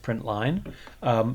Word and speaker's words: println: print so print line println which is pronounced print line prints the text that